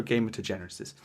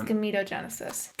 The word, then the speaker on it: gametogenesis: is in vitro gamete gametogenesis in vitro gamer degeneres i would say that is gametogenesis yes so it's gametes